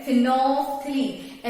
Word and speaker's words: phenolphthalein: लोग ये जो एल है ना इसको मिस कर देते हैं क्योंकि एल जो है साइलेंट है। फेनोल्फथलीन एल तो प्रोनाउंस नहीं करते, तो इससे क्या होता